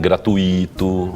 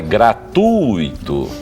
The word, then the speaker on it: gratuito: O U e o I ficam na mesma sílaba e o U é mais forte do que o I, certo? Então é gratuito, mas não tem acento.